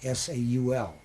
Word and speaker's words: Zal: Everybody calls him Zal, but his real name is pronounced Saul, just S-A-U-L.